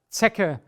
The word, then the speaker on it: Zecke: We also have the combination C and K, which is very easy. Here you only have one pronunciation, it's K. So in fact, you could actually take away the C and you would still be pronouncing it K, but why should we keep things simple if complicated is also available? The blanket is die Decke, the Tick ist die Zecke und das Stück ist the piece.